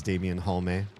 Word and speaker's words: Damen Hullme: My name is Damen Hullme. Both E are pronounced variety streamer and uh disruptor of the status quo.